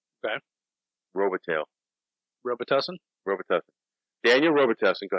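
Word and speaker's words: Robitaille: In French, it's pronounced one way. In English, it's pronounced another. Robitel. Okay. Robitel.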